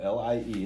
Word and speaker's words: Lie: So Lie is Sophus Lie was, and his name is spelled L-I-E, it's spelled like lie, pronounced Lie.